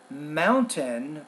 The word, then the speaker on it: mountain: at the glot stop typically it's kind of like the T in the middle of a word but typically a lot of native speakers we don't really produce or pronounce uh that particular sound for example we have mountain or Mountain we have Batman or Batman that so let's see